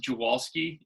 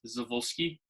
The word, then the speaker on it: Jawalski: Um, so we pronounce it Jawalski in Maryland, but I think in Poland, technically it's Zawolski or Jawolski.